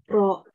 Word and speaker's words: rho: Rho. Beda ya? Rho, betul, septic ya. Bukan P ya.